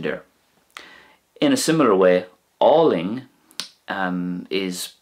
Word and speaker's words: álainn: In a similar way, Ling is pronounced more or less the same in Munster and Connacht. Ling.